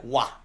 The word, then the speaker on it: Roy: Patrick Wah. Yes. Pronounce the name properly. Not Roy.